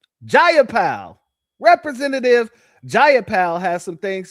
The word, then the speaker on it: Jayapal: Jayapal.